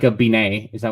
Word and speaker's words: beignet: Beignet. Beignet. How do I say it? I don't know what you said. You said like I think it's similar. Ben, like the name Ben. Beignet.